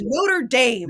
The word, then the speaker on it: Notre Dame: biggest fight about it he was like that's the way they say it and I'm like no that's the cathedral sir it is Notre Dame yeah shut the [